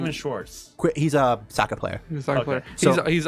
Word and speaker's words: Schwartz: Schwartz.